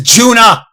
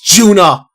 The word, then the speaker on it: Juna: Her name is Juna. It's not Yuna. It's Juna.